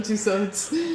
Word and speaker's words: Tussauds: Madame Tussauds. How you say it? Tussauds. Tussauds? Yeah. It's a D? Yeah.